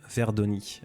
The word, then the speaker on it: Verdoni: Maxime son nom de famille Verdoni. V E R D O N I. Exactement comme ça se prononce.